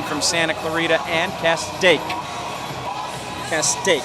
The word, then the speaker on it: Castaic: Castaic, saying it right.